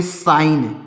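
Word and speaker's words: sign: क्या पढ़ेंगे एस आई जी एन तो इसको पढ़ेंगे साइन क्या पढ़ेंगे दोस्तों साइन इसको साइ साइजन नहीं पढ़ेंगे इसको साइन पढ़ेंगे आर ई आई जी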